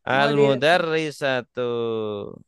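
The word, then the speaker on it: المُدَرِّسَةُ: almadrasatu ini tulisannya sama nih almudarisatu dengan almadrasatu tulisannya sama nanti kalau baca kitab kuning itu kan enggak ada harakatnya ini bisa salah kalau enggak teliti bisa sah jadi tergantung konteks kalimatnya terus selanjutnya albab albabu artinya itu itu.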